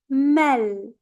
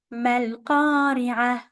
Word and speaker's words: ما القارعة: Mal, mal, mal.